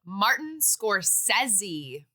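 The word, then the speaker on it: Scorsese: wow okay Barbara Barbra Martin scorsi it is Martin scorsi oh I've heard it said like that yeah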